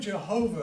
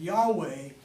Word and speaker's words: Yahweh: says that the word Jehovah is actually a mispronunciation because when the Germans translated Yahweh into their language they switched the Y for a J which is customary in